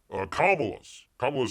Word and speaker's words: Kamala: By the way, I finally figured out how to pronounce Kamala's name. You gotta have the accent on the L. You gotta emphasize the L in Kamala.